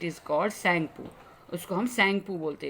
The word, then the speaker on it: Tsangpo: उसको हम सैंगपू बोलते हैं. स्टार्ट तो टी से है, TSANGPO, बट टी is silent here, we called it सैंगपू.